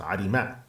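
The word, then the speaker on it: عرمة: So the word arim is a word for a dam. It's in the plural. While one of them is pronounced arima.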